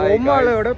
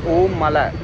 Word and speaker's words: Ommala: everyone are pronouncing wrongly, so the actual pronunciation is Om Mala.